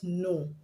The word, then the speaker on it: know: have the letter k k is silent when it comes before n at the beginning of a word k is always started